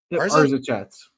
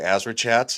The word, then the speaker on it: ArzaChats: your name ARA chats AR chats all right it's good to meet person to put the r before the Z they usually say azra chats they almost always say